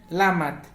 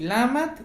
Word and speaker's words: Lamatl: Pero he escuchado por ahí en mi comunidad que igual le dicen Lamat. Siwat y Lamat igual a mujer, según yo.